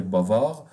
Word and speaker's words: bavard: it feminine, like here bavard. Pay attention that this consonant is silent at the end of the word, but when we add a vowel, it will be pronounced. Bavard, bavarde.